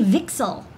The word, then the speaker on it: VCSEL: so you know like we call it vixel that's apparently how it's pronounced it's a vertical cavity